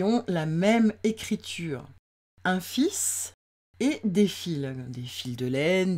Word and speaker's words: fils: la même façon et se prononcera fils. Un fils, des fils. Des fils, quant à eux, là, on a mis au pluriel. On dit un fil ou des fils. Mais de toute façon, même au pluriel, vous avez vu, j'ai mis le S en gris parce que le S est muet.